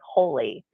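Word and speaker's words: Holi: um called holy moly which it's spelled h-o-l-i and it is a Festival of Colors and so if you're not familiar with the um celebration of holy it's um an ancient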